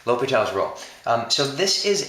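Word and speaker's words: L'Hôpital: rule so this is spelled l apostrophe hospital okay but it's pronounced l'hopital you know like uh because french so low p tall is how it's pronounced low petal l'hopital's rule um so this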